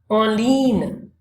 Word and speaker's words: en ligne: Online is en ligne. En ligne, we don't pronounce G here.